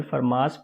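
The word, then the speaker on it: Fermat: For example फरमास principal एक variational principal है, टी यहाँ पे साइलेंट है, तो फरमास प्रिंसिपल यहाँ पे एक वेरिएशनल प्रिंसिपल है।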